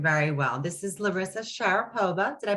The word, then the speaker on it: Sharipova: dan i'm doing very well this is larissa sharapova did i pronounce that correctly correct thank you larissa i